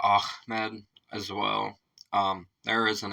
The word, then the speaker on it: Ahmed: The name of the song's subject is Ahmed, which is frequently mispronounced as Ahmed by Westerners, possibly due to the influence of comedian Jeff Dunham's, Jeff Dunham's puppet.